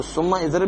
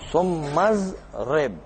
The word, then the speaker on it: ثم اضرب: اس طرح ثم اضرب، اس کو ثم اضرب نہیں پڑھیں گے بلکہ پڑھیں گے ثمزرب.